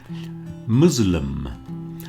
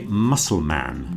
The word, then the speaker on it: Muslim: Make sure you get the pronunciation right. Another religion is the Muslim people. Muslim. We don't say muscleman even though it does exist in some old writing.